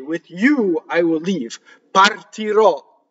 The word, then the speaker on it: partirò: Partirò. Now, anything that ends in a final syllable, usually the future tense, or something that's a word that's been truncated in Italian, you're going to have an open O.